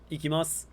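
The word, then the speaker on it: 行きます: But ikimasu, the s sound at the end is perfectly fine.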